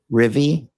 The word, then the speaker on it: Rivian: Uh how am I supposed to pronounce it? Rivian.